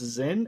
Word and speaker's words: Xen: I guess it's pronounced Zen, XEN.